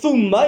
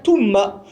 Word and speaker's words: thumma: Au lieu de dire thumma, ils vont te dire tumma.